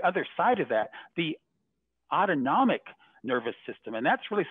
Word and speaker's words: autonomic: side of that the autonomic nervous system and that's really sort of that sympathetic uh parasympathetic part you know that that uh you know autonomic rhymes with automatic like our heart rate